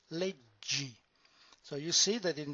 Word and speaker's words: leggi: The stem is leg or legge, but when we combine them together in one single word, then the pronunciation is leggi.